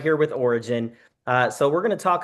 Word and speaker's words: ORYGN: Origin, or pronounced Origin, and ORYGN is the name of the company.